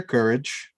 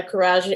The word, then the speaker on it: Courage: especially with jerry goldsmith and and alex uh karaj and um courage i keep saying his name wrong um and michael like i their scores